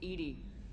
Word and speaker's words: EDI: behind the medical Bay why are you named Ed Ed is the phonetic pronunciation of Eed that is an acronym for